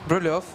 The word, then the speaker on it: Brylov: And how do you pronounce the first guy? Brilev? Brylov. Rostislav Brylov. Rostislav Brylov. Brylov, yeah. Actually, I don't know why that should be read like because it's Brylev.